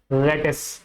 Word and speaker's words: lettuce: देखो, तो इस वर्ड का करेक्ट प्रोनाउंसिएशन होता है लेटिस। क्या बोलते हैं इसको हम, लेटिस।